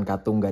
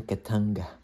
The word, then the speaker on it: Katunga: Bukan Katunga, dorang pronounce-nya di sini Ketanga.